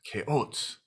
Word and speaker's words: CHAOSS: spelling on k or correct people on the pronunciation of k oats frequently it's k oats k oats sounds like a cereal brand now speaking of